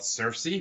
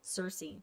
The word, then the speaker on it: Circe: Circe. It's called Circe. Is it Circe spelled like Cersei in Game of Thrones, or?